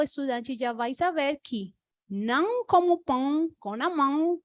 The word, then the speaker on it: não: aquela possibilidade de que a pronúncia não é nhau, não é now, senão exatamente o não em espanhol.